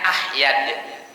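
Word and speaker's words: أحيد: Wasallam id ya kemudian yang masyhur dibacanya ahyad ya kalau ada orang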